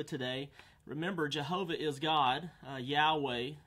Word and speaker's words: Yahweh: remember Jehovah is God Yahweh is the better pronunciation Jehovah is more common more